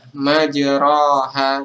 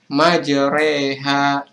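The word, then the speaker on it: مجريها: bacaan nah ini teman-teman tertulis imalah dikata majraha majroha tapi cara membacanya adalah ini sesuai dengan makna yg malas imana adalah mencondongkan bacaan harakat fathah pada harakat kasrah sekitar dua pertiganya jadi kita tidak membaca majroha tapi bacanya adalah majreha tandanya itu ada kata-kata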